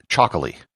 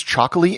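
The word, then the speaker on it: Txakoli: It's called Chocolate, spelt with a TX instead of a CH, and it's produced in the Basque country.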